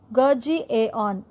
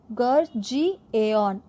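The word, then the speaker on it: Gurgaon: Micromax informatics, head quarters வந்துட்டு கர்ஜி ஏஆன், அது அப்படி தான் ப்ரொனவுன்ஸ் பண்ணணும், கர்ஜி ஏஆன்.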